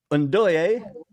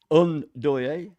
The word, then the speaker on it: Ndoye: Ndoye is how you pronounce it. Ndoye.